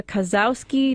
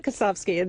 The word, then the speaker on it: Kosowski: It's Kosowski. The W is pronounced like an F.